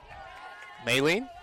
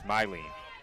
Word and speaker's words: Mylene: Maylene? It's Mylene. It is. The pronunciation guide that we were given, the official document of the CSI Dolphins softball team, very clearly, Maylene, but it is Mylene.